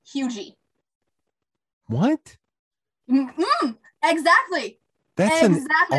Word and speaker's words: Huger: How would you pronounce that, sir? Hugger? No. I got it. See, that's what I went with, and it would start so many arguments. It is pronounced Hugy.